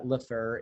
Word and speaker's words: Lefebvre: Did I say that right? I didn't, did I? You did. If you're in Gay Puri, then you absolutely said it right. Yes. You know, you can put the flourish on there, but Lefebvre is good enough.